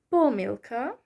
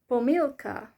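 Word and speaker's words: помилка: heard some people say poor milka and others say pomilka so can you hear the difference when I pronounce these words because the first one has the stress on the first syllable poor milka and the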